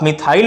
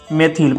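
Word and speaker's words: methyl: आप मिथाइल पढ़ो या मेथिल पढ़ो, क्या पढ़ो, मेथिल पढ़ो, ठीक है।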